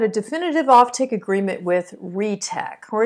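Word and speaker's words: REETEC: definitive off-take agreement with re-tech or is that r-e-e-t-e-c how exactly do we pronounce that uh jeff that's uh that is 100 correct re-tech um so yeah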